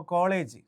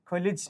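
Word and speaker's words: college: ഇപ്പോൾ കോളേജ് കണ്ടോ, ഈ വരുന്നില്ല. കോളേജ് എന്ന് എഴുതുന്നത് ഇങ്ങനെ, കൊലിജ് എന്ന് എഴുതുന്നത്. ഇതിനകത്ത് ഒറ്റ സിലബിളേ ഉള്ളൂ. കണ്ടോ, 2 സിലബിൾ, ഓയും ഐയും. കൊലിജ് എന്ന് എഴുതുന്നത്. നമ്മൾ വായിക്കുന്നത് കോളേജ്, യഥാർത്ഥ ഉച്ചാരണം കൊലിജ്.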